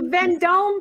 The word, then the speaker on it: Vendome: is a nice piece yes it's uh uh then dome is that how you say it the yeah it's a vendome piece yeah then dome is very well known